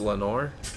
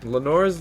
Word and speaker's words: Lenore: Lenore's the wife in The Raven that died in Poe's poem. Is it? Yeah. Because it rhymes with chamber door.